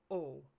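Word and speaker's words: を: SCU means to make sushi or making sushi or I make sushi so that o particle is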